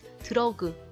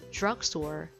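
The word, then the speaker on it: drugstore: 걸로 하시면 되세요 그리고 dr 은 약간 드라마가 아니라 주 아마 이렇게 지 소리가 살짝 들어가게 되죠 드러그 들어오고 이렇게 하지 마시고요 주악 소월 주악 소월 사실 알을 을지로 확 제 끼다 보면은 r 발음 때 혀를 뒤로 확 새끼다 보면 원래 이제 약간 줄 알아 라고 소리가 나게 될 거에요 15번 미용실 헬씨 먼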